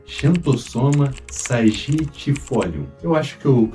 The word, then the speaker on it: Xanthosoma sagittifolium: A taioba, o seu nome científico é Xanthosoma sagitifolium. Eu acho que eu pronunciei certo, mas ela é uma planta da família das Araceias, a mesma família do inhame.